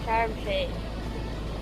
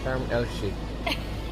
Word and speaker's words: Sharm El-Sheikh: How do you pronounce Sharm it? El-Sheikh. Sharm El-Sheikh. Sharm El-Sheikh.